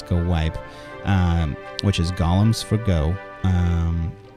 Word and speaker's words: GoWiPe: go YB go away go YP that's not how you say it it's go wipe which is golems for